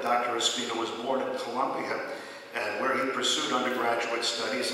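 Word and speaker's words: Colombia: He holds, and I know I should say Columbia, it's not Columbia, but it's got 2 O's in it, so if you spell it right.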